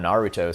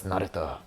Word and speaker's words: Naruto: okay because I mean, we still call him Naruto sometimes, even though it's Naruto. Naruto. Gonna do the Sasuke pronunciation.